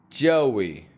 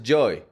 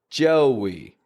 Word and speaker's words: Joey: Joey. Spelled J-O-E-Y, but we pronounce a W in the middle. Joey. It's not just joy. If you pronounce that, it sounds more like joy, like happiness. Joey gets this flare in the corners of the lips.